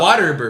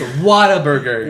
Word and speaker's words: Whataburger: yeah three Whataburger and I heard that people from Texas pronounce on water Ebert Oh what is a it's Whataburger what a better double meat cheeseburger they